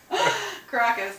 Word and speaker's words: Caracas: Caracas, to pronounce it correctly.